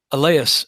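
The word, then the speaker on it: Allais: want to just google the eleas effect i think that's how you say it a-l-l-a-i-s which describes how oddly enough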